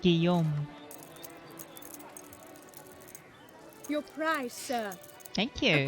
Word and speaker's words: Guillaume: The L is silent. Guillaume.